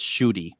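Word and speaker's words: Ncuti: it's spelled m-c-u-t-i but it's an African name and it's pronounced as shooty when it's ENC it's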